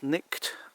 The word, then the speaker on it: Cnicht: That's Cnicht over there. It's spelt C-H-N-I-C-H-T, centre top.